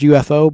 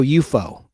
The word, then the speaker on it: UFO: unidentified flying object, letters UFO, but it's pronounced in the show UFO, like an enemy or a foe, like F-O-E would be how you spell the word foe.